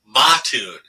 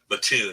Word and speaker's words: Mattoon: If you ever heard that story, um, and we kept on calling it Mattoon. They were saying, no, it's Mattoon. You do not pronounce it Mattoon.